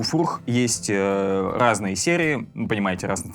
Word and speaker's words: Furch: Furch именно так читается, вот здесь буква F, чтобы вы не забывали, что за бренд.